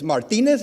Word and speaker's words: Martinez: or Martin Martinez okay it's Martinez it's Perez and it's Dias okay that always bothers me one simple rule Z is an S okay that bothers me